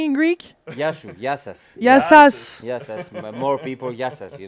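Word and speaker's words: Γεια σας: Yassas.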